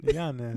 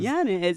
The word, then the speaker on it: Yanes: How do you pronounce his last name? Yanes. Yanes.